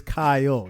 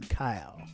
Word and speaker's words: Kyle: GNA say Cy it's it's two syllables it's Kyo not one Kyle but you know what's